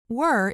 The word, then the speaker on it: we're: The word we're rhymes with beer.